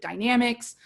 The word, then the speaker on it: Dynamex: AB5 was the result of California Supreme Court ruling in the 2018 case known as Dynamex some people pronounce it dynamics but basically AB5 codified that ruling.